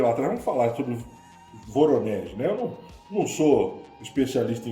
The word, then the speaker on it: Voronezh: falar sobre o caso, eu vou falar aportuguesado, depois o Dudu, que é o meu assessor para assuntos russísticos, né, vai falar aí a pronúncia correta. É o caso Voronezh. Dudu. Voronezh.